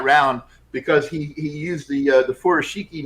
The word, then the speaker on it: furoshiki: And I believe furoshiki would be pronounced furoshiki with the emphasis on the first syllable.